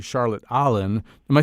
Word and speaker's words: Allen: I'm about to say her name correctly Charlotte Allen am I saying your name right is that how you say it uh Charlotte alen alen okay a hard one to pronounce oh no I think I can manage